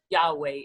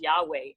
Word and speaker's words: Yahweh: that i am well in hebrew it's yahweh it's it's uh and there's different pronunciations to it you know um some people say just yaw as god but it was just yahweh and so that was